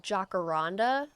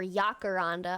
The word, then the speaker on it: jacaranda: people keep telling me it's jacaranda or yacaranda with a Y or an H sound whenever I say jacaranda, but I feel like it's probably yacaranda.